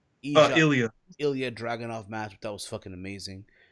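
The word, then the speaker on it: Ilja: two matches and watch the azar versus uh eva Draganov oppositing name wrong Ilya Ilya Draganov Matt that was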